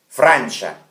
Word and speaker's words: Francia: во Франции, in Francia, и так произносится, Франция, Франча, Франча, in Francia, на горах, в горе.